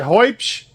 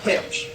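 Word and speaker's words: Huebsch: How do you say that word? Hoibsch? Hubish? Hubsch? It's Hipsch. Hipsch.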